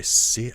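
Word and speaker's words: Syd: And then there was a randomizer made by Sid, I think it's pronounced Sid, S-Y-D, Montague, or Montague, I'm not sure.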